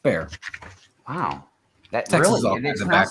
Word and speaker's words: Bexar: bear hello hello hello named after a city in texas which is pronounced bear wow that's real like